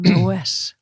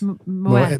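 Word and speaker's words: Moët: And tell me, do you give them moet when they go in? Moet. Let's talk about moet versus moe. Back to pronunciations again. It is actually pronounced moet. Moet. That is how you say absolutely.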